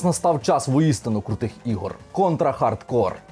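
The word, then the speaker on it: Contra: Hard Corps: час воістину крутих ігор контрахардкор тактак Саме так читається її назва це максимальний концентрат крутості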